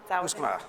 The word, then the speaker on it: Musqueam: Musqueam, thank you.